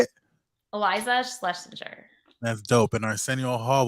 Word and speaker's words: Schlesinger: Eliza Schlesinger.